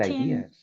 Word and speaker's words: idea: innovative, create original Creating ideas. original ideas. Muy bien, very good. Ready? Recuerden que la pronunciación de la palabra idea es idea. Idea. Ready? O sea, se escribe igual, Ideas. pero se lee idea.